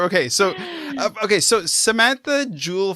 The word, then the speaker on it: Joule: so okay so Samantha Jewel fowl that's right how do you say your name properly yes yeah no you got it exact right uh Jewel like a gem foul like wow okay